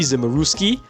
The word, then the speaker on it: Zimuruski: Bobby Zimmeruski.